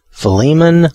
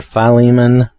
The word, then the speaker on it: Philemon: different people that either philemon or or philemon you know kind of um a long the lee is the one is the syllable that's supposed to be i think the most stressed and i think the